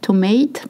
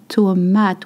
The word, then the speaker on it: tomate: Le chou, not chou, le chou, cabbage, la carotte, la tomate, not tomate, please, la tomate with a AA sound, la tomate, tomato, la pomme de terre, potato, la pomme de terre.